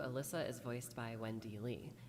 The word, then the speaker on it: Alyssa: The only thing we can guess about that is simply that it's the Japanese pronunciation of her name, which is backed up by the SP item Forgotten Gi, which has her name in Japanese written as Arisa.